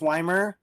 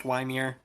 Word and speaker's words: Ymir: do you say it I I know it's Weimer but like yamir the game pronounces it Ymir I know it is pronounced weimier but the game pronounces it yamir you're weird you're weird Achilles two levels down